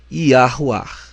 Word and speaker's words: Yahuwah: A pronúncia do nome do Criador é Yahuwah.